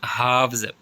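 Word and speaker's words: halves: सी नॉम पढ़ते हैं हावज हा का प्लूरल है हाव इसमें एल साइलेंट है वेल जो मछली होती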